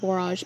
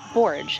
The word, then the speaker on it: borage: idea oh this borage i've been calling it barrage but i looked it up and i guess the correct pronunciation is borge i remind myself that it rhymes with porridge forage so it's been getting kind